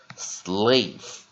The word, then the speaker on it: slave: 不发声，把 a 拉成长母音，看起来就像这样子 slave，那 a 变长母音念 a slave，那 e 变发音 slave。好，第二个单词 trade 也同样道理，它也是单音节的单字，所以一样，它的 onset 是 tr，所以我们念